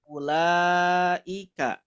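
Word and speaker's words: أولئك: Contohnya seperti kalimat ulaika. Nah, ulaika. Nah, ini kan ada wawu ya. Tidak ada tanda sukun kayak gininya. Nah, berarti ini wawu yang diabaikan, tidak dibaca.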